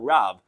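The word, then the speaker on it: רב: in Shemais Chav Gimel, Loisana al Riv, which we pronounce Loisana al Rav.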